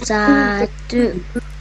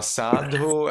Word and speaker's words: sadhu: Sadhu. Yes, very well. So sadhu actually is the Sri Lanka pronunciation. Sadhu is the Burmese pronunciation. In Myanmar, sa sound changes into ta.